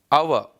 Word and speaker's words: hour: The reason is ಸಿ, ಆ್ಯನ್ HOUR, but here the letter H is a silent letter and we pronounce like our.